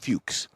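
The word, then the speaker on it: Fuchs: These are the Porsche Fuches wheels. It's spelled different, but it's pronounced Fuches.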